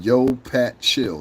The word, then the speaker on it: YoPatChill: His name is Yo Pat Chill. That's his name. Yo Pat Chill. And that's spelled YOPATCHILL.